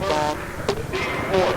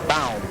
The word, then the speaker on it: Baum: And the foul is on Rod Baum. They say Baum, okay? All right. Pronounce that Baum. Rod Baum. Spelled B-A-U-M. Like the boulevard in Pittsburgh. Baum Boulevard.